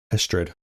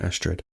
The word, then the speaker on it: Estrid: Is it a Ain? Estrid. Not Awin. Estrid.